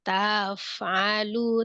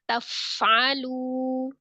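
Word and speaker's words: تفعلوا: Tapi kalau misalnya kayak tafnya jangan taf, alu, taf. Itu kan dipanjangkan tanya. Jadi langsung wama taf'alu. Ya. Taf'alu. Jadi biar hurufnya itu bisa dialirkan ketika dia sifatnya mengalir ya, rawah. Tapi kalau bacanya taf'alu, itu kan jadi fa-nya nggak ngalir, malah Umi memanjangkan ta gitu ya.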